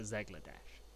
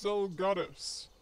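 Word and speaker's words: Zelgadis: Zegladesh. Finally deciding to show your face, I see. That didn't sound right. Gary, I think it's pronounced Zell Gladys? It's Zell Gladys.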